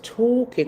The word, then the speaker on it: talking: I can see nothing wrong with talking to Trump with talking. Remember that L is silent with talking to tramps